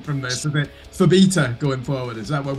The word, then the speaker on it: Phobetor: If you remember the B syllable, the rest kind of just fits.